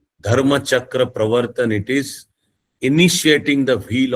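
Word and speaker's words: Dharmachakra Pravartana: speech, which is also famously called Dhammachakra Pavartan. This is the Pali Prakrit pronunciation. The Sanskrit pronunciation will be Dharmachakra Pravartan.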